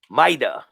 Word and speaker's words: Mida: and today i got mita right that's how you say it yes sir so what's good man